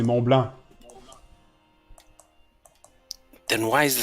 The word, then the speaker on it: Mont Blanc: And you don't pronounce the C. In French, you say Mont Blanc.